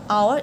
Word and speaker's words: hour: is listen number three which word has silent h over Hill hero the option a hour is the correct uh answer number four which